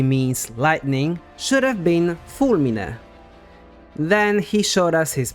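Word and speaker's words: fulmine: word that simply means lightning should have been fulmin then he showed us his memory of the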